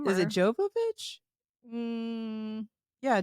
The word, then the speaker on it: Jovovich: God I liked these panties too spelled her name wrong is it jovovic yeah Jovovich um there's a Mila jovanovich don't get it